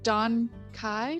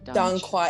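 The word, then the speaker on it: dong quai: The Don Kai? Don Quai. I always say it wrong, so I get really embarrassed when I say it because it's like a traditional Chinese medicine herb. So it's just, I'm not going to pronounce it in the accent because I'll just butcher it. But Don Quai is usually how I say it.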